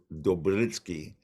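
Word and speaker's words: Dopyera: And what happened is they were partially and well mostly designed and by a fella, a Slavic American named John Dopiera, and I've been told it's actually pronounced more like Dobritsky.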